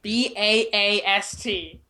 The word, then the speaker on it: Baast: Did you freaking pronounce Beast the Beast? Bast. Bast. Baast. B-A-S. Wait. You know, 2 A's. Baast.